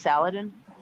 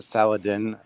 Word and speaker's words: Saladin: Wouldn't that be pronounced Saladin? You know what? Never mind. Well, it's actually, it can be both. Fair enough. But some people are picky. So, yeah. I pronounced it Saladin for like 45 years of my life.